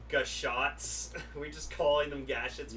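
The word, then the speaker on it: Gashat: It's like how it broke Ichi's mind, like telling him, it's like, you know, the gashets are actually pronounced gashots.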